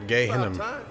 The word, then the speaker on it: Gehinnom: So that's how you pronounce that planet, Gehinnom.